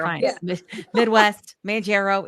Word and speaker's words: Mounjaro: I'm a baker and I'm on Mounjaro. Manjaro in the Manjaro. She always tries to correct it. And I'm like, why? We're leaning in now. It's Mounjaro. fine. Yeah. Midwest, Manjaro.